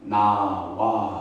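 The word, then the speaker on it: נָאוָה: 자, 오늘 히브리어로 이 마땅하도다를 히브리 발음으로는 나와 이렇게 발음한대요. 히브리 발음을 어떻게 발음한다고요? 나와라고 하는 발음이고, 이 나와는 나외라고 하는 히브리어의 나외라고 하는 요성형이고, 마땅하도다 이 뜻은 뭐냐면 아름답다라는 뜻이에요.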